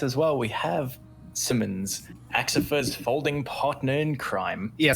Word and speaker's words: Axipher: Folding Man, Axipher. I think I'm saying it right. Hello, and yes, that is correct.